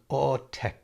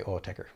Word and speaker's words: Autechre: We used to say Autech cuz we didn't know anything. But thought the r was silent. Silent. But of course, well, there is no right way to say it. I don't think they care at all. Um I think they say Autecher, but you know, it's I